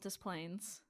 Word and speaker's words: Des Plaines: Oh my god, it's actually called Des Plaines.